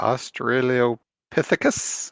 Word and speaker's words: Australopithecus: There is Lucy, and I'm not even sure how to pronounce this, Jeff. Australopithecus.